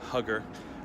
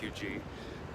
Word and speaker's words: Huger: people will pronounce it "hugger" It does have a French origin pronounced "you-gee" The Street spans from